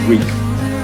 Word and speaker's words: Reek: My name is Reek. It rhymes with freak.